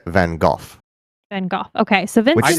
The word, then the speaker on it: Van Gogh: more properly pronounced than golf than golf okay so vince sounds ridiculous but it's like the gh is like cough at the end i think it's probably